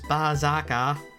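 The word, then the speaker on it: バーサーカー: Well, the real way to pronounce it is Bazaka.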